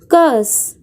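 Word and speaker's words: curse: कर्स जो इसमें आर है वो साइलेंट रहेगी, तो प्रोनाउंसिएशन होगी कर्स।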